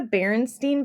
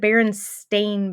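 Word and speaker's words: Berenstain: have to do it it's not the barenstein Bears it's the in stain Bears listen it is spelled s t a i n at the end listen not steam we all collectively remember it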